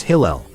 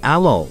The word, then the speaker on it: Hillel: It's Hillel. This is Hillel. A number one big-time Jew. He called himself Alol or Halal, but today he is known as Hillel.